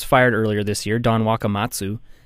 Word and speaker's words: Wakamatsu: earlier this year, Don Wakamatsu. I always have trouble pronouncing that name, but I think I got it right. Uh-huh. Is that the right way? Well, yeah, you nailed it.